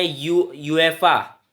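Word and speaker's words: UEFA: एएफसी है, Asian football committee, उसको Israel ने 1950s में छोड़ दिया था और उसने यूएफा, यूएफा ही बोलते हैं लोग उसे, यूईएफए उसकी स्पेलिंग है, यूईएफए की फुल फॉर्म है यूनाइटेड यूरोपियन फुटबॉल एसोसिएशन।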